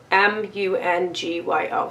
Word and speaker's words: Mungyo: M-U-N-G-Y-O. So that's Mungyo. I'm going to pronounce it like that.